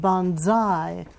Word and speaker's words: banzai: The members of the gold team shouted a loud banzai as their field day triumph over the blue team was announced.